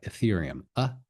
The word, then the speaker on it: Ethereum: So it's Ethereum, Ethereum, some people say Ethereum, but it's more like Ethereum, Ethereum. Okay, that's probably the best one, but there are a lot of different pronunciations out there.